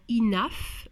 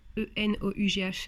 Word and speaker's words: enough: Voilà, vous avez ceux qui vont prononcer le GH en feu, comme dans enough, E-N-O-U-G-H, c'est enough, n'ayez pas peur de ce mot, qui veut dire assez.